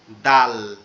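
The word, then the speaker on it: دال: এরপরে হচ্ছে দাল। এরপরেরটা কি, দাল। দালটা কি হবে, শক্ত পাতলা আওয়াজ হবে, আওয়াজটা শক্ত হবে কিন্তু পাতলা হবে, দাল, দাল।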